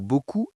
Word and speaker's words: beaucoup: Le mot beaucoup est utilisé des dizaines de fois par jour. B-E-A-U-C-O-U-P. Le P final est un fantôme. Attention, beaucoup.